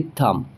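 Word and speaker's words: thumb: करेंगे जैसे कि कॉम उसी तरीके से टी एच यू एम बी इसमें भी बी जो है जस्ट एम के बाद आया है तो यहां पर भी बी प्रोनाउंस नहीं होगा सिर्फ एम प्रोनाउंस होगा जैसे कि थंब।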